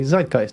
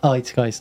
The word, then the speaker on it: zeitgeist: the same with zeitgeist you just say zeitgeist not it's guys i guess this works